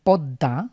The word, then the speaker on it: পদ্মা: যেমন আমরা যদি পদ্মা, আমরা জানি দর নিচে মফালা থাকার কারণে পদ্মাকে আমরা দুইবার উচ্চারণ করি, দ দ্বিত্ব হয়।